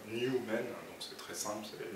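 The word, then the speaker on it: Nu-Men: Les anglo-saxons disent beaucoup, enfin, dans leur argot, ils écrivent nu comme New York, même ils mettent New York parfois. Et donc j'ai pris cette version argotique, mais ça se prononce tout simplement New Men, donc c'est très simple, c'est les nouveaux hommes.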